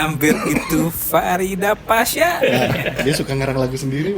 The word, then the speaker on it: Paes: the match kemarin itu Tapi bacanya pas bukan Pais ya pas Martin pas